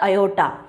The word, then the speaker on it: aorta: जिसको कि हम लोग अयोटा पढ़ते हैं, स्पेलिंग होता है AORTA बट इसका प्रोनाउंसिएशन होता है अयोटा।